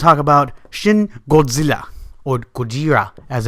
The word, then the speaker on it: Gojira: And today, we're going to talk about Shin Godzilla, or Gojira, as it's pronounced.